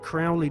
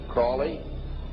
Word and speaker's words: Crowley: learned about was aliser Crawley he likes to have his name pronounced Crowley to rhyme with holy and uh the Satanist